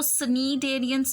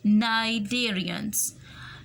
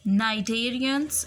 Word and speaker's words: cnidarians: इसको सनीडेरियंस नहीं पढ़ना, इसमें सी साइलेंट है. This word will be pronounce as नाइडेरियंस and echinoderms. I'm repeating their names: arthropods, worms, mollusks, sponges, cnidarians and echinoderms.